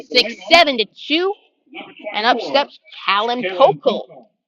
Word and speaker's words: Callan Pokel: And up steps Callan Pokel. Pronounce it Kalen Pokel.